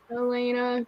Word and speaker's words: Yelena: name was you yes elena get it right elena that's what i said joanna the y isn't pronounced elena yes the y is just not pronounced oh this name is